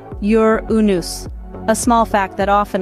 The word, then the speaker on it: Uranus: to offer starting with its unique pronunciation which contrary to popular belief is actually yur unus a small fact that